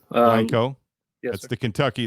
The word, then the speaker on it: Blanco: Yeah, it's pronounced Blanco. Blanco.